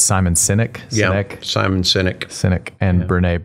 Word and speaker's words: Simon Sinek: She listed Simon, and I always get this name wrong. It's Simon Sinek.